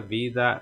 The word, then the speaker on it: vida: primeira teremos vida e vida é a forma de pronunciar vida o ver sempre Sutil vida aí você pode